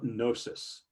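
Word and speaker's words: Knossos: the palace is called gnosis it's k-n-o um it's usually s-s-o-s but you don't pronounce the k and this is a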